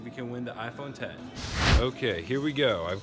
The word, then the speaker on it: iPhone X: the comments guys but i'm pretty sure the iphone x is supposed to be called 10 and it's just spelled with a roman numeral which people wouldn't really